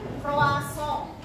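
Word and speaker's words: croissant: Proisan kita mengucapannya sesuai dengan bahasa yang dari negara asalnya. Ya memang agak ribet tapi emang begitulah cara pengucapannya. Cara pengucapan makanan ini adalah proasong.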